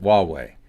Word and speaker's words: Huawei: pronounced like a W. That's right. Huawei.